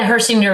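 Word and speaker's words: Hechinger: Is it Hershinger or Herchinger? The the Hershinger report yes so Yeah.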